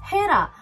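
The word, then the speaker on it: Hera: У нас в Корее есть косметика Хера, но как-то не понимаю, почему на русском произносится Гера.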